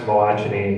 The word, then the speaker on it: Malachini: So my last name is pronounced Malachini. It sounds funny because it's Serbian.